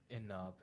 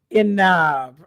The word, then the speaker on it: Inab: It's Enough. Inab. Okay, I got it.